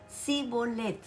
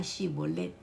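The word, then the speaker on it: Shibboleth: les decían ahora pues di shibolet y él decía zolet porque no podía pronunciarlo y en eso los agarraba no podían la palabra shibolet ellos decían shibolet Entonces como no podían pronunciarlo correctamente los les echaban mano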